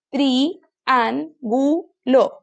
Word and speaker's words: triángulo: Triángulo. 4 sílabas. Entonces parto acá. Triángulo. Entonces, ¿dónde se carga la voz? Triángulo.